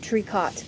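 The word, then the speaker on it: tricot: knit it's actually too which is spelled t r i Co o t sorry can spell it again or you can look right there where I just wrote it triot triot it's a French word um and it's just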